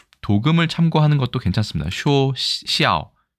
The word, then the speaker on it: 肖: 자, 일본의 닮을 초자는 중국의 닮을 초자와 똑같이 생겼습니다. 발음은 쇼.